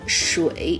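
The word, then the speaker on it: 水: Three, water, character.Water is pronounced as shui in Chinese.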